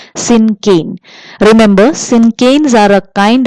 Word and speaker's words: cinquain: The pronunciation is syncane.